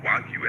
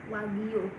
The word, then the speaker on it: Wagyu: If you're just pronouncing Wagyu as it is, you can say it like Jew in English. Wagyu.